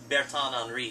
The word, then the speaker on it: Bertin Henri: You can pronounce it however you want, but people say Bertin Henri Selections.